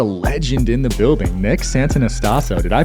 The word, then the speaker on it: Santonastasso: with me a legend in the building Nick Santa naso did I pronounce that right he crushed it let's go